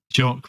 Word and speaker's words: Jacques: Jock Brunswick, not Jack. We keep saying Jack.